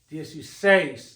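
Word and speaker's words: dieciséis: is a dip thong we need to put an accent mark on the E so that this word is pronounced DSU say the stress on the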